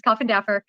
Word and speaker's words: Coffindaffer: Okay, so I have to tell you, that's actually how it's pronounced, is Coffindaffer.